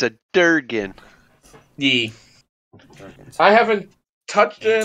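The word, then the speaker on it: Dergun: How do you spell that? D-E-R-G-U-N. Okay. Oh, I get it. It's a Durgan.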